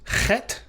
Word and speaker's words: chet: Your grammars will often say that it's pronounced like the English letters C and H in the name Bach, or the C and H at the end of the Scottish word Loch, like Loch Ness.